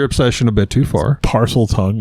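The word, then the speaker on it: Parseltongue: parcel tongue, if you're going to say it right.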